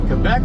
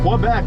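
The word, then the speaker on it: Québec: I was I was trained and you know, you don't say Quebec like it's spelled here like we would say. It's Quebec. And uh I even said Quebec and they still No, no, no.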